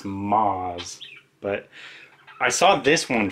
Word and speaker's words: Maas: by sarah j maas i always want to say her name is sarah j maas but i guess it's moz but i saw this